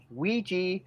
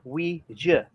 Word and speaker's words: Ouija: It'll pronounce either Ouija or Ouija.